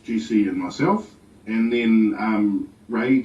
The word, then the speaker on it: Rei: and myself, and then Ray came on board, and he's from Auckland. And he's a rapper. He mainly sings in Te Reo, but he does a whole wide range of music actually, and so that's spelled REI. And we were supposed to